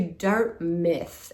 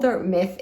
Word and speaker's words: Dartmouth: I went over to Dart Myth. It's called Dart Myth. It's spelled Dartmouth.